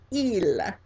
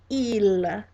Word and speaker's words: il: The word to say he in French is il, il, and that's spelled I-L, I-L.